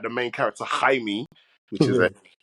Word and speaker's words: Jaime: So in regards to like the main character, Jaime, which is a pronunciation of his name, which is joke, because obviously it's spelled Jamie, but obviously Jaime is the way the family say it's jokes.